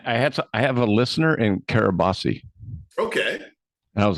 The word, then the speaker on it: Kiribati: Yeah, I have a listener in Kiribati. Okay. And I was like, I had to look it up. I was like, because that's not how it's spelled, but the T is Right. pronounced an S.